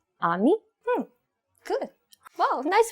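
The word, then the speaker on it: 아미: So, can you pronounce this word ami? Ammy.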